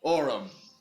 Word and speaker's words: Aurum: time and I don't spend another whole campaign mispronouncing your character's name. Right. Or something I can say. Orum. Yeah. Orum purposely made simple.